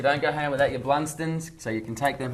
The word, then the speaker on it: Blundstone: They're Blunston. Blunston. You don't pronounce the O so profoundly.